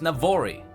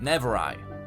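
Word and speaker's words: Navori: but the region where the Presidium is is pronounced Navarre II and I mistakenly pronounced it never I I just want to make sure that those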